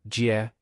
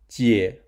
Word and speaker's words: 姊: To associate the character's visual form with its pronunciation, we borrowed Captain Jack Sparrow's image and used two Jacks as sedan chair bearers.